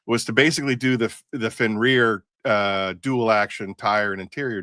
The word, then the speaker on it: Fenrir: All right, because I said Fenrir. Fenrir? No, it's Fenrir. Hey, you Everyone's guys gonna came up with pronounce the it wrong, name.